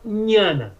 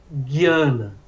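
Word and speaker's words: ज्ञान: No sul da Índia se fala Nhana, Nhana, dando ênfase ao N, Nhana Yoga. Mas na bengala fala Guiana, Guiana Yoga, que lembra exatamente o cognato grego, que é gnose, certo?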